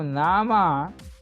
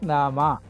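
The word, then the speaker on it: नाम: Now nama is Sanskrit word. It names name. So nama. You see, this is not Hindi. Hindi nam, but Sanskrit it is nama. Nama we read fully.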